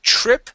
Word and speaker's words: trip: to see, because each trip and each place was a new set of pictures. Okay, nice job. Thank you. Okay, and here with trip, we want to pronounce a CHR sound.